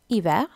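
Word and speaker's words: hiver: ஸோ அந்த H sound இல்லை, ஹீ வேர்ன்னு சொல்கிறதில்ல, இவே தான் சொல்கிறேன், இவே.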